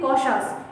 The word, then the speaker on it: cautious: বাট we should be কশাস, কশাস means সতর্ক, কশাস, CAUTIOUS, কশাস, উচ্চারণ কি হবে?